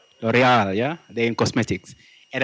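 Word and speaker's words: L'Oréal: And James Mo, head of business development in how do you pronounce that word? L'Oreal.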